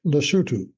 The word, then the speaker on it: Lesotho: l s o t h o it is pronounced lutu and is named for the original and still